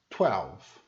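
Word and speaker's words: twelve: É como se fosse uma sílaba só. 12.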